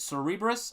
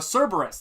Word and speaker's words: Cerberus: um uh it's uh is it cerebris I think it is it's not Sarah um uh God I can never remember how to pronounce this but back in our walls um uh a Cerberus that's what it is Cerberus um and uh